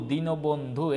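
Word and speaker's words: দীনবন্ধু: নিচে হসন্ত উদ্যোগ দিনবন্ধু দ্বীনবন্ধু এই যে দীর্ঘিকার দ্বীনবন্ধুর দীর্ঘিকারটা রসিকার হয়ে যাবে বারবার বলছি দীর্ঘিকার উচ্চারণে হবে না রসিকার হবে ভাইয়েরা মাথায় রাখো এ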